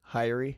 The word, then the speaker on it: Haery: Haery.